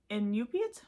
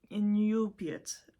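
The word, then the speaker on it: Iñupiat: this correctly she was inup that was like her people's name it's not Inu so it's not that it's inate I am u p i a t now I could not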